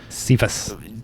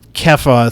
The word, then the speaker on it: Cephas: So I think Peter is referred to as Cephas. Kepha throughout the text. Okay. I pronounced it wrong.